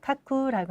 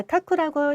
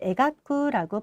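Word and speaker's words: 描く: 자, 카쿠라고 일반적으로 발음하고요. 그리고 에가쿠라고 발음하는 방법도 있습니다.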